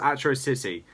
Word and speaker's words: Atrocity: with it is actually how Monkey King pronounced Atro City in that episode, but it was fixed in episode 2. And the reason why he said Atro City instead of Atrocity like all the villains